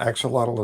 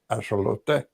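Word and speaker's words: axolotl: to say uh uh axelottle is more correctly pronounced as ashote.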